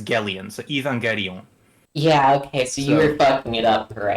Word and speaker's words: Evangelion: The G is a hard G like lasten.